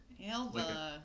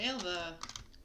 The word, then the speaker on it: Alba: alba is a fated alba basically pronounced elva come on i said alba alva is blessed or